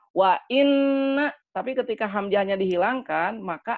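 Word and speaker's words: وإنّا: Wanna, betul atau salah tuh? Salah. Jadi maknanya jadi bukan sesungguhnya. Harusnya kan wa inna, tapi ketika hamzahnya dihilangkan, maka akan menyangka itu hamzah wasol.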